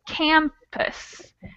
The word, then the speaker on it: campus: For instance, campus. The stressed syllable is the A. So we never would use the schwa sound over the A, just over the unstressed syllable.